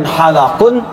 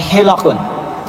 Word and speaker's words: hilaqun: Umar radallahuasahaihi was hikri Perhatikan cara bacanya bukan halaqun tapi hilaqun ya kalau halaq itu punya